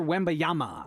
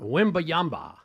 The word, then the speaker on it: Wembanyama: Victor Wembanyama. Wembanyama.